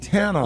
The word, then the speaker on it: Tana: I keep saying it's Tana. Tana. Like I keep Montana without the mon. Got it now. Montana. I always what I been saying, Tana. You be saying Tana.